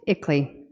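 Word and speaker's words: ICLEI: on local environmental initiatives that acronym is pronounced ickley the international Consulting Group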